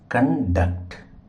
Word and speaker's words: conduct: కండక్ట్ అంటే నిర్వహించడం. మనం పరీక్షలు నిర్వహిస్తాం కదా, అలాగా. ఐ కండక్ట్ the exam. కాబట్టి కండక్ట్లో అనే పదంలో డక్ట్ మీద స్ట్రెస్ మార్క్ పెట్టాలి.